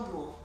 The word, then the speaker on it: Bloy: Léon Bloy, ça s'écrit B-L-O-Y. C'est pas comme la ville de Blois, B-L-O-I-S. Léon Bloy, c'est B-L-O-Y, même si ça se prononce de la même manière.